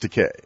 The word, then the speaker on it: Takei: This is George Takei. A Walt Disney production in association with... It rhymes with okay.